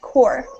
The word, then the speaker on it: corps: corops horse and horse this word c o r PS that's pronounced core core core core okay would